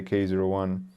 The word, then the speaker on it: K-01: This was the Pentax K01. And you have to pronounce the 0. You know, people get mad if you don't say K01.